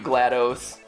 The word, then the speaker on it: GLaDOS: sometimes corre me really some people say it's GL yeah glad dos like dos as an MS DOS I I like GLaDOS better I don't I I'm not sure what is the official pronunciation but there you go